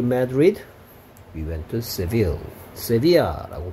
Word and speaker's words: Sevilla: Sevilla라고 발음하네요. 우리 뭐 영어식 발음으로는 Seville 같은데. Sevilla라고 스페인어 발음으로 그런가 봐요.